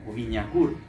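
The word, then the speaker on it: Wignacourt: en el gran acueducto de Winacourt, o Viñacourt, como se debería pronunciar, de Viñacourt, de todas las mejoras que él estaba llevando a la isla.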